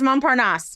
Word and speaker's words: Montparnasse: your French, but I'm going to let you pronounce them. Montparnasse? Is it Montparnasse? It is Montparnasse.